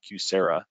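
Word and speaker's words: QSEHRA: So again, big acronyms, ICHRA and QSERA is how we're pronouncing these acronyms.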